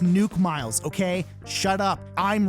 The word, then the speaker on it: Nook Miles: as nuke miles and no it's not pronounced nook miles it's pronounced nuke miles okay shut up i'm